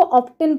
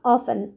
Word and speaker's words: often: पिला माने सब बेले ध्यान देथिबे प्राय तो पिला याको ऑप्टेन पढंती किंतु मु आपन को कहि रखे एठारे टी साइलेंट रहे तो हमरो स्पेलिंग आमे करिबा ऑफन तुमे रविवार संध्या रे